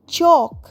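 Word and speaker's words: chalk: সি এইচ এল কে চক L silent.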